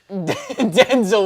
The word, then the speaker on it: Denzel: Denzel would have That's got actually how you're supposed to say his name. Really? Yeah, I just watched the interview recently. It was You like, said everybody's Denzel? pronouncing my name wrong.